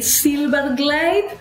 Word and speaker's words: Zylberglait: welcome thank you so much for having me Silver Glade uh but if you're or